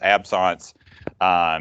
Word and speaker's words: absence: It's spelled absence, but it's French. It's absence.